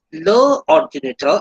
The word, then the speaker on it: l'ordinateur: So it is l'ordinateur actually, but it is used written as apostrophe because of two vowels. L'ordinateur. So pronunciation will be l'ordinateur. Le problème.